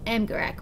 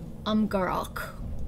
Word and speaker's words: Amgarrak: The Golems of Amgarrak, or Amgarrak, if you want to pronounce it with the correct accent.